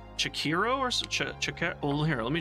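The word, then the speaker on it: Chachere: we like uh Tony I call it Tony chakas but that's not how you pronounce it apparently I think it's pronounce shakiro orak well here let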